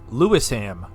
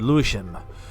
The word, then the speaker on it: Lewisham: what's left of it lewisham that's how I would say but he said leam all right wait a